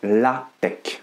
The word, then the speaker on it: LaTeX: pour me dire que c'est un X et non un K à la fin de ce mot mais contre toute attente on prononce bien la tech dans cette vidéo je